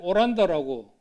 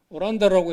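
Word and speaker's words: オランダ: 네덜란드인데 이건 아마 일본으로서 일본이 당시에는 네덜란드를 오란다라고 오란다라고 해서 아란타, 이걸 일본식 발음은 오란다라고 해서 란 하면 네덜란드를 뜻합니다.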